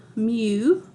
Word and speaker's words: mu: then this little Greek letter that is called mu that's how you pronounce that and that is the mean for